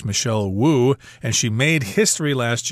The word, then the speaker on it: Wu: at least will say woo although i believe in mandarin you'll just say but we always pronounce the w in english michelle wu and she made history